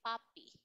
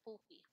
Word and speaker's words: puppy: You say puppy. Puppy, Okay, not poopy. Puppy.